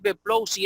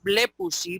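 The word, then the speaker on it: βλέπουσι: No es beplousi, es blepusi porque el acento está sobre la epsilon.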